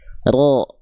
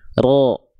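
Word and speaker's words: ر: Jadi yang nempelnya itu bagian punggung lidah. Sedangkan ujung lidah karena dia bukan bukan nempel bukan yang nempelnya bukan ujung lidahnya banget. Jadi dia enggak nempel malah membuat sedikit seolah ada e furjah atau celah kecil di sini ya. Sehingga ketika kita lafalkan pelafalannya seperti ini.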